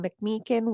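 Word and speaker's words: McMechen: He was placed in the care of his aunt and uncle in McMakin, West Virginia until his mom was pearled in 1942.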